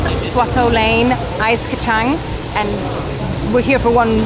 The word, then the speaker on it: kacang: Ice kacang.